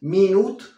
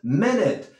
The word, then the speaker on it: minute: Recuerda, es ahí, menos aguda. No decimos minute, qué horrible. No, decimos minute.